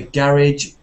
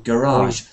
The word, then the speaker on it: garage: can be said can be pronounced the French way in English so you can say garage or garage but you can't say Voyage because you have to say voyage voyage okay next word begins